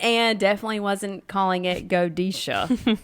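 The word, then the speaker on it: godetia: say it now godeshia godeshia is how I used to say it g-o-d-e-t-i-a and it's actually godisha so I completely bombed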